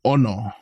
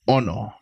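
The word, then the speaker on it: ʻono: Oho oh no yeah so this one has a okina at the beginning of the word and it's just like a um an accent so when you say the word you're going to have kind of stress the the O so you're going to go Ono Ono yeah so Ono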